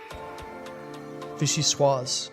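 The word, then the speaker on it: vichyssoise: Pronounce it for me. Vishy swaz.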